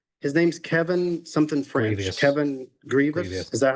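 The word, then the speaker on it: Grevioux: Kevin Grievous. Is that how it's pronounced? Grievous.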